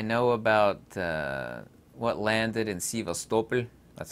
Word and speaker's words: Sevastopol: I know about what landed in Sevastopol. That's how you pronounce it in Russian.